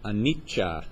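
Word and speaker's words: anicca: um in P there's a word anicha is how it's pronounced and that word means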